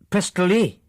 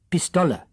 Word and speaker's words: Pistola: "Pistoli?" he asked with a grotesque pronunciation. "Pistola," Rudy repeated correctly.